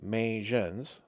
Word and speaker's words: Magen: Megan's pronounced majens. So, Majun, sorry.